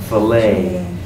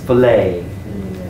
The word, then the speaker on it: filet: the tea is silent filet I think that word comes from French and the French don't say the T at the end often so this is filet so they feel it's all finished yeah number 22.